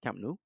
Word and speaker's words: Camp Nou: This is the famous the famous Camp, was it Camp now Camp Nou? Yeah, not a bad pronunciation for you, Jay.